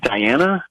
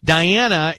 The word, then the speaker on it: Dianna: Can we send it to Diana? It's spelled Dianna.